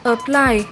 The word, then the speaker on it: apply: Động từ số 1 được đọc là apply, nhấn âm 2.